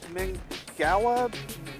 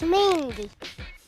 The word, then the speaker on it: Mingua: how you say it I've always heard it pronounced MinGa beef jerky yeah I know how to pronounce this it's mingwa mingua no it's mingy if you like jerky